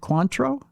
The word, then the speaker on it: Cointreau: to the bottle of I forget how that's pronounced. Is it Cointreau?